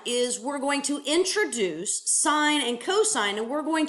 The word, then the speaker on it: sine: we talk about the sine function the sine ratio and okay it is abbreviated s i n it is not pronounced sin it's pronounced sine guys this is just